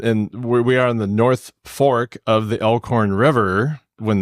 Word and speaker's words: Norfolk: in Norfolk Nebraska no it is in North Fork Nebraska is and that's that's not a huge joke that they're playing on the rest of us everybody it really even though it's spelled n o r f o l k yes it's not Norfolk no and you can